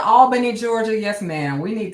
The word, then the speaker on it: Albany: It's a few pockets in Georgia that don't have the other name like Al Benny Georgia. You know, wait a minute. I'm saying that wrong too. Albany. If you said Albany, Georgia.